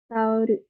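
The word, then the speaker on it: タオル: Karena bahasa Jepang nggak ada L, jadinya diganti dengan ru. Tauru. Gitu ya.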